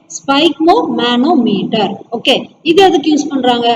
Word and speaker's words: sphygmomanometer: சொல்லுங்க, SPHY, ஸ்பை SPHYG, spike. Okay. MO, mo. MA, ma. NO, no. METR, meter. Okay. Spike mo, manometer.